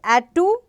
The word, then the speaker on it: Attu: You are going to pronounce this as a, you can call as Attu or Attu. This is actually called as Attu.